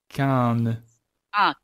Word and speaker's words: Caen: Caen. Caen. Caen. Oh man, I was way This off. one is very easy. It's like when you say when in French, you know how to say when. Yeah, Caen.